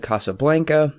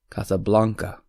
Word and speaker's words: Casablanca: No, I've actually always said Casablanca, but then I took a Spanish class in college. I come to find out that's really not the proper way to say it the proper way. Alan, you took Spanish as well. Yes, I did. We learned our vowels, and it would be Casablanca.